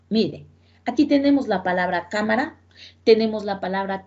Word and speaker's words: cámara: es la antepenúltima sílaba es prácticamente la tercera sílaba mire aquí tenemos la palabra cámara tenemos la palabra teléfono mire hará primera sílaba